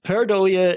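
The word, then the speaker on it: pareidolia: to I'm I'm not sure I'm going to pronounce this correctly um parolia paradia yes paradia is when you look at a thing that's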